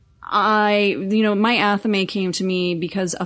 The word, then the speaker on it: athame: It's called an athame. It's spelled athame, A-T-H-A-M-E. Right. We pronounce it athame.